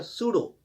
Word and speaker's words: pseudo: इसी तरह PSEUDO, इसमें पी साइलेंट रहता है, सूडो।